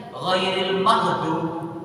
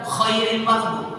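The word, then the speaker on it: غير المغضوب: Tadi ghairil maghdub. Kadang enak masih benar ghairnya, kadang khairil maghdub pakai kha. Ghair bukan, kan dia pakai khair baik. Masa baik orang-orang yang awal sesat.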